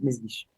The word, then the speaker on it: Mesguich: pero efectivamente son con fónicas muy francesas, entonces solo los franceses lo pueden pronunciar. Pero es Mesguich.